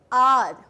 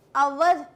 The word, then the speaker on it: our: अब है आपके पास दो वर्ड्स हैं यहाँ पे, और इनका प्रोनाउंसिएशन सिंपल है, आर, 11th आर, आर house, आवर नहीं होता, आवर नहीं होता, इट्स आर, ओके।